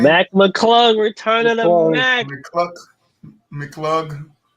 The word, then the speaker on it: McClung: You know, Mac McClungton. That's how you say his name? Mac McClung, return of the Mac.